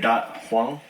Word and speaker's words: Dat Hoang: Dat Hoang.